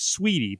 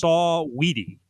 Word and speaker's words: Saweetie: I thought it was Sweetie, but it's Saweetie.